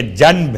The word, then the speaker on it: جنب: جیم نون بے، چونکہ تجوید کے قاعدے کے لحاظ سے آپ کو تلفظ میں میم کی آواز محسوس ہوگی، جنب، حالانکہ جنب ہے۔ اس کا ترجمہ کیا ہے؟